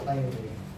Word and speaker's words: Tyre: Was it Tyre or Tyre? Tyre. It's like the way the British would pronounce it, Tyre and Sidon.